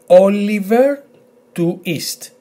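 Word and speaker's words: Όλιβερ Τουίστ: So we have O, L, I, Oli, V, I, sorry, V, E, R. Or emphasis on O, Oliver, and most probably you've guessed what comes now. T, U, that's the combination, U, I, to I, emphasis here, S, T, to East. So altogether, Oliver, to East.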